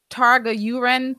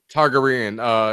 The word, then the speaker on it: Targaryen: Targa-Uren theorem. Inspired by the Pythagorean theorem, so I'm probably saying it wrong. Targaryen.